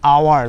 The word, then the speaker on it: hour: H থাকলে উচ্চারণ হয় hour মানে ঘন্টা, not hour.